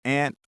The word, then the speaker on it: aunt: They sound the same in American English.